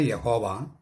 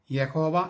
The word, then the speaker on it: യാഹ്വേ: അച്ചോ, ദൈവമായ യഹോവ ഏകനാണെന്നും ഏകാന്തനാണെന്നുമുള്ള യഹൂദന്മാരുടെ ആ വിശ്വാസം തെറ്റിദ്ധാരണയല്ലേ? അതെ, തെറ്റിദ്ധാരണയാണ്. അതിലേക്ക് വരുന്നതിന് മുമ്പ് ഒരു കാര്യം പറയട്ടെ. യഹോവ എന്ന് ഉച്ചരിക്കാൻ പാടില്ല, അത് തെറ്റായ ഉച്ചാരണമാണ്. യാഹ്വേ എന്ന് ഉച്ചരിക്കണം. യാഹ്വേ.